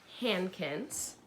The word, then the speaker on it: Hankins: And the boy in the story's name is Arthur Hankins. Find his last name on page 3. Hankins. And that's the one, H-A-N, Han, K-I-N-S, Kins.